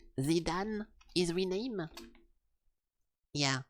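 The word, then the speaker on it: Zidane: uh Final Fantasy 9 Zidan is renamed. Yeah, this one guy is supposed to be called Zidan but in French it's called Jidan.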